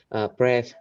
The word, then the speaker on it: breath: They breathe for the patients while the patient can't breathe for themselves.